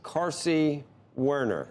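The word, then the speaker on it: Carsey-Werner: It's Carsey Werner.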